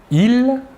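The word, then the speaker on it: ils: personnels sujet tout d'abord le masculin il la S final ne se prononce pas et le pronom personnel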